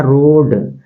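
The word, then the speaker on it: road: इसके बाद लिखा है रोड इसम देखिए ए का जो है उच्चारण नहीं करेंगे ठीक है ना यहां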